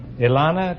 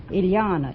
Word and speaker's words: Iliana: Ilana, is that right? Iliana. It rhymes with manana.